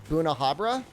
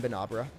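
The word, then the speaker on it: Bnahabra: goose the only thing where i'm kind of like oh that makes sense is buna habra i could see bunahabra rather than banabra tig rex tiger x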